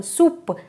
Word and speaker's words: soupe: I hope you understood that whenever O-U is coming together, it gives a sound oo.